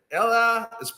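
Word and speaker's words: Elly: 11 game Run remarkable 11 game Run and Ella it's spelled Ellie but it's pronounced Ella De La Cruz unbelievable 21 year old kid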